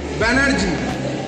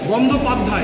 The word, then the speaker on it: বন্দ্যোপাধ্যায়: ব্যানার্জি, বন্দ্যোপাধ্যায়, এটা ওরা উচ্চারণ করতে পারতো না, তাই ব্যানার্জি।